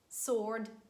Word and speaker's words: sword: wrist rap and again some exceptions some random words when w is not pronounced and they are tu sword and answer w is silent that's it for today's